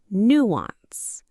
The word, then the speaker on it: nuance: Nuance. The stress is on the first syllable, nuance.